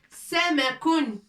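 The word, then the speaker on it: سمك: Samakun.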